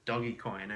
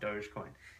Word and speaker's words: Dogecoin: And he organized it, but one of the rules of getting in was that you had to pronounce it Dogecoin and not Dogecoin.